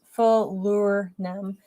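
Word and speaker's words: falernum: before that he says falerin pronounced full lure nem is either an 11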